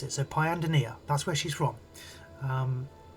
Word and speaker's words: Pyandonia: So the correct pronunciation is um it's Pyan Denia. That's how you pronounce it. So Pyandonia, that's where she's from.